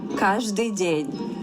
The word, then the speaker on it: Каждый день: In Russia, we pronounce it as каждый день.